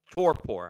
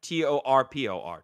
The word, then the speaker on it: torpor: they go into what's known as a toor torpor I hope I'm pronouncing that right t o r p o r torpor yeah I think so yeah so it's